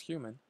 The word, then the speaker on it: HVMN: biohacker and co-founder of hvmn pronounced human a startup selling human